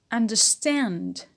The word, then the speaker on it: understand: do not stress it understand understand is a verb so the stress is on stand and we have a secondary stress on the first syllable on an the second